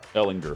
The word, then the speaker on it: Ellinger: with the Patriots defense I think it's Ellen ger Ellinger hard G I like to say hardness I know it becomes it's more natural i i i acknowledge that I'm saying it wrong but for whatever reason I always want to say Ellen that's how I say it Ellinger Grable the